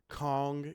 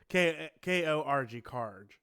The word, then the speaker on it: Korg: I thought there was a brand called Kong keyboard, Kong, but it was Koag. Kaj. Og, Kaj. Okay. Yeah, or All something right. like that. I can't Yeah. pronounce it. But Okay. uh Korg.